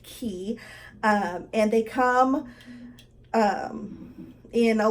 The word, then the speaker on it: Quay: it's qu a Y it looks like clay but it's actually pronounced key and they come in